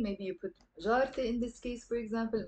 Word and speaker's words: جارتي: I end up pronouncing this te marbuta here, okay? And I say جارتي, not جارة-ي.